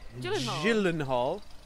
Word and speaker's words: Gyllenhaal: And Jake Gyllenhaal. I think it's a soft G, not a hard G.